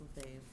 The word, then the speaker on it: Lefevre: Am I pronouncing that correctly? It's Lefevre. Lefevre.